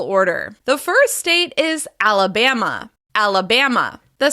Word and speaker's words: Alabama: The first state is Alabama. Alabama. The stress is on the third syllable. Alabama. Alabama. Be sure to hold that stress syllable as you rise to your highest pitch. Alabama. Alabama.